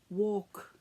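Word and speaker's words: waulk: a group of women, walk, and it sounds the same as if you would go for a walk, but it's spelt W-A-U-L-K.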